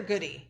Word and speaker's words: Goody: Is it good or goody?